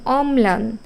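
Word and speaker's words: অম্লান: এখানে কিন্তু একটাই থাকবে কিন্তু যখন এই ল ফলা শব্দের মাঝখানে যাবে যেমন অমলান অমলান এখানে কিন্তু দুইটা ম লিখতে হবে প্রথমটা নিচে হসন্ত আর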